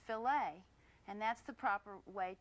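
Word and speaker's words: filet: It's pronounced filt and that's the proper way to talk about a filt of beef.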